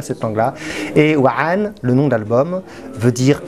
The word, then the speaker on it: 3NE: de l'arabe, et donc ce 3-N-E se prononce Wa'an, puisque le 3, en fait, que j'intègre à ma langue imaginaire, correspond à la lettre A, la lettre arabe A, qui s'écrit comme un 3, mais à l'envers.